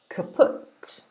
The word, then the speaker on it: kaput: So this word is pronounced kaput. kaput. This is how we say it in English.